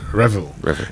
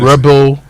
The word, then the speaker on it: revel: We've been saying it wrong for a very long time. Revel. Yes. Revel. So next time Rebel revel revel. Yes. That's how you say it.